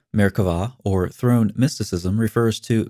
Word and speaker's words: Merkavah: Frequently spelled with a B but pronounced with a V, Merkavah, or throne mysticism, refers